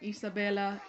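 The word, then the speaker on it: Isabela: Let's move on to Isabella. Yeah, Isabella. Yeah. That's how you say her name. Isabella, basically the golden child of the movie.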